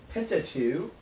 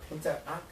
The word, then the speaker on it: Pentateuch: They're known as the Law, or the Pentateuch, or Pentateuch. I mispronounce that word a lot. It starts with Penta, meaning 5, and Tach, which is books.